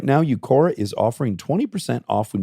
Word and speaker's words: Uqora: Now it's time to try something that works with Eucora.